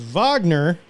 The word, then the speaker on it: Wagner: Because the Wagner Group, which is actually pronounced Wagner. Yes.